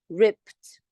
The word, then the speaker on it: ripped: and ripped ripped yes you have Ed here but it is pronounced as ripped okay sound is not voiced it is voiceless number 15 sorry 15